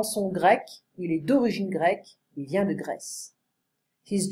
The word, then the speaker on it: grecque: La Grèce, il est grec, elle est grecque. So you see the spelling is different right here. It's the same pronunciation. Grec, grec.